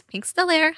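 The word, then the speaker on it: pinkstellaire: a i r e I know that a lot of people don't know how to pronounce it it's pink Stella hello my name is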